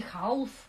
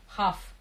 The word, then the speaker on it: half: Half. Не half. Half. Half. L не читается.